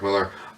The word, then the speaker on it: Millar: I do believe it's actually pronounced Mark Millar. Only that sometimes gets people confused with Frank Miller.